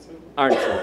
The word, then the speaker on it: Arntzen: Arntzen, thank you.